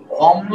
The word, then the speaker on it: অম্ল: পুরোটা লিখবেন কেমন দেখেন অম্ল শব্দের উচ্চারণ কি দেখেন অ যে বর্ণের নিচে ল আছে আগে ওই বর্ণ সিঙ্গেল লিখবো লিখলাম অম যে বর্ণের নিচে ল আছে আগে ওই বর্ণ সিঙ্গেল লিখবো লিখলাম অম এরপরে আবার পুরোটা লিখবো লিখে ওকার হবে অমল তাহলে বলেন তো শুক্ল